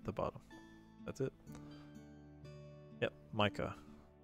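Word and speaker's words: Maike: Yep, Micah.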